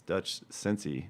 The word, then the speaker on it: Dutch Sensei: It's Dutch Sensei, but it's spelled like Dutch Sense.